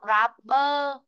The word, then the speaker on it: rubber: Khi mà chúng ta đọc rubber, ở bờ huyền bờ đấy ạ. Cứ âm R này này là âm ơ. Vì vậy nó không có trong âm nhá.